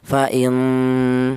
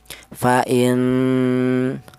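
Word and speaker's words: فإن: Jadi cara bacanya huruf nun ini dibaca dengung panjangnya yaitu dua harakat ya. Fain seperti itu. Fain.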